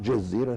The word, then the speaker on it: Jazeera: is quite evident that tv jazeera tv as it should be pronounced because the writer in english is jay so jesus tv has